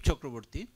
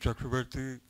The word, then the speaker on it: Chakravarti: studies at a u-lab thank you very much uh chakravarti for those who don't know the Bangla pronunciation of my name I am a professor